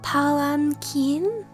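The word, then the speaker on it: palanquin: daa welcome welcome in oh it's pronounced palan Keen oh I've been scuffing that haven't I palen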